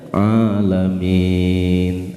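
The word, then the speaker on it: العالمين: Harusnya alamin, ain bukan hamzah. Kalau pakai ala menjadi alim. Jadi yang apa? Menyakiti. Intinya Rabbil alamin, Tuhan yang menyakiti, itu bahasanya.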